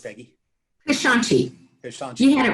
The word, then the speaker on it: Keshanchi: How's that pronounced, Peggy? Keshanchi.